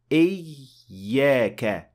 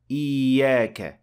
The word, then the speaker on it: إِيَّاكَ: So you are supposed to show that there are two ya, إِيَّاكَ, not إِيَّاكَ. That is one extended ya, that is not two.